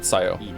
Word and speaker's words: Sayo: it right I heard him just say it Sayo not Sayo okay Sayo yes what's your punishment